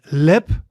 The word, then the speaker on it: lip: Then we have the I, for example in lip, lip. So in English the word is lip, lip. So as in bit, but shorter.